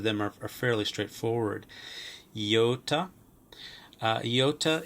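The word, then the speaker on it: ἰῶτα: Iota is usually pronounced as E, as in beat, E.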